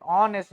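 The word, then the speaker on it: honest: है देखो ऑनेस्ट person अब इसका भी साउंड कहां से निकला ओ से ओ से ऑनेस्ट बोलते हो क्या नहीं बोलते राइट ऑनेस्ट बोलते हो तो एच साइलेंट है तो क्या लग गया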